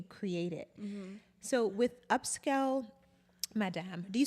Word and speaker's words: Madame: So with Upscale Madame, do you say Madame or do you say Madam? Because I have on my family, like, people speak Creole. I'm like, how do you say it? Okay, Madame, okay.